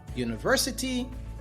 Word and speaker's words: university: We have a university, a euro. In both of these instances, the vowel U and the vowel E makes the U sound, a consonant sound.